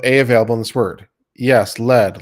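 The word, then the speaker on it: lede: in this word yes lead like the first line of an article it's spelled l-e-d-e therapists and I exchange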